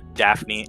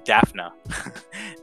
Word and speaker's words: Daphna: and it's created by ron leschem and uh daphne i'm sorry i'm pronouncing that i'm daphna oh daphne lemon yeah because you you read